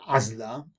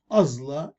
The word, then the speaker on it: ازلا: برخ ليله خفاش الليل ازلا كوشه لا نقول عزلا ازلا كوشه انظروا كيف نضخم العين ازلا كوش وتعني عنكبوت